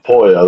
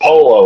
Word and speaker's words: Pollo: No one knows how to pronounce. I was like, man, y'all not taking a single lick of Spanish or listen to anybody talk. They keep calling her Polo like she's or polio or something like that.